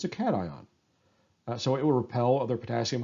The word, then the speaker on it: cations: ions are called cations this looks like it should be pronounced occations its cations a prime example is sodium